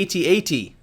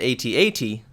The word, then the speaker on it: AT-AT: And there's even a Times article that points out that Lucasfilm's public relations says that it should be pronounced phonetically, in other words that it rhymes with hat-hat.